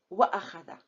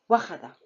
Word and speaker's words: وأخذ: So when you add waw, وأخذ. So I'm still pronouncing Hamza. وأخذ. I will never say وخذ. This is not a word.